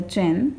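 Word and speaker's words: Qin: one is a jo this one is a chin and this one is a horn this the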